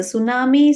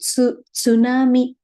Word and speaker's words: tsunami: with like this right we usually write the T we say t silent so that we pronounce it as a tsunami so this is based